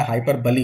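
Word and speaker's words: hyperbole: कौन बताएगा कि हाइपरबली बोलते हैं, आप लोग प्रोनाउंसिएशन देख लीजिएगा, हाइपरबली होता है, ठीक है।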